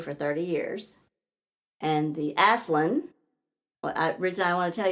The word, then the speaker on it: Aslan: So like Aslan the lion, Aslan. Oh, Aslan. Aslan. Did I say it wrong? Well, you didn't say it wrong, but I heard a slightly different warped version of the lion's name. Yeah. It's the Aslan. Okay, there we go.